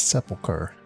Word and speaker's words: sepulchre: What's sepulcher? I've been saying it wrong. Actually, that is the right way to say it.